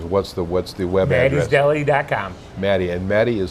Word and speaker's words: Mati's: Matty, and Matty is spelled MATI''S.